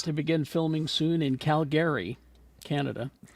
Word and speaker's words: Calgary: begin filming soon in Calgary Canada Calgary isn't it yeah that's right that you say that's how you say it right yeah yeah uh that's